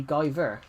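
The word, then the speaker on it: GuyVR: So, V and R is ver if um with no space in between it. Also, stop you saying my name. He said if. Yeah, I know it's Guy VR. I know it's Guy VR, but with no space, it's technically Guy Ver.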